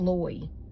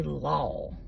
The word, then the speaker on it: law: It's not loy. You don't say loy. You say law.